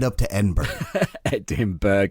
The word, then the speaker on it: Edinburgh: the ass end of Brighton right up to Edinburgh. Edinburgh. It's Edinburgh. Am I not pronouncing that right?